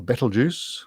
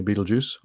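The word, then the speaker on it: Betelgeuse: mostly is question 18 beetlejuice or battle juice or battle geese but i'm going to say beetlejuice speaking of 80s movies question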